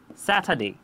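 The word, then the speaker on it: Saturday: আর এর উচ্চারণ করি কিন্তু এখানে আমরা আর উচ্চারিত করছি না এটার রিজন কি হতে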